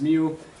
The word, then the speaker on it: mu: of mu so remember this mu symbol here is it's that's kind of how it's pronounced is mu here's some examples and